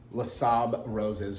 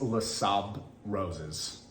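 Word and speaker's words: Les Sables Roses: no different this is lasab roses or los sables roses by louis vuitton if anybody knows i think it's le saab roses um and the s is silent on the end correct me if i'm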